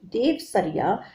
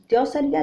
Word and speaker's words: देवसरिया: वे द्यौसरिया यानी देवसरिया कान्यकुब्ज द्विवेदी ब्राह्मण बताए जाते हैं। द्यौसरिया जो है वो आंचलिक उच्चारण के प्रभाव में बोल दिया जाता है, असली शब्द है देवसरिया।